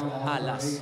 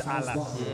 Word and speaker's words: Alas: game obach and apparently the proper way of pronouncing is alas it's alas okay alas I was